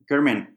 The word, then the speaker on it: Garmin: bio page on the Garmin website. Is that how it's pronounced? Garmin? Yeah, Gurman.